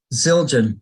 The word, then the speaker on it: Zildjian: Sabian or I don't even know how you pronounce that. Zildjian.